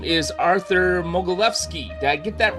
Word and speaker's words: Mogilevski: His name is Arthur Mogilevsky.